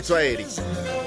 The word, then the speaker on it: Tsoaeli: Herbie Tsoaeli.